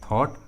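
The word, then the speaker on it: thought: अनुसार, ट्रिक के अनुसार यहाँ पर जी और एच का उच्चारण नहीं किया गया है, जी और एच साइलेंट है, जी और एच का आवाज़ नहीं आ रहा है। थॉट, ड्रॉट, उसी तरह ब्रॉट,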